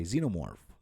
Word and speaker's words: xenomorph: And if you're an Aliens franchise fan, you might say xenomorph, okay?